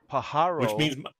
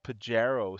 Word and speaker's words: Pájaro: week in in California I pronounced pájaro pájaro Street when I announced a traffic situation I pronounced it Pajero Street well my name should